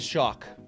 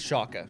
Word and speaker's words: Schalke: was just wrong okay i said shock over and over again and it is shaka all right so i i apologize for that but here we are i'm going to redeem myself shaka shaka chaka i got